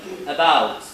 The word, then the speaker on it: about: For example, in the word about, okay, if you want to pronounce it correctly, you have to put the stress on the bout. So it is pronounced as about, not as about, okay?